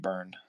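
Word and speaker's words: Byrne: says I love John burn shehulk brine is it burn bur b y yeah it's pronounced burn okay I just never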